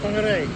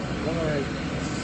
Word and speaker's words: Whangarei: So there's three things wrong with that word that people always mispronounce. And the first part is the WH, because everyone always gets that wrong. Also the NG, and the last part is the R.